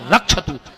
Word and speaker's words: रक्षत: नौ regular तो हमारा जबकि शुद्ध उच्चारण है भार रक्षत हम यजमान की पत्नी की भी रक्षा कर तो तुम रक्षत की जगह भक्षत कह रहे मर अब सुन माता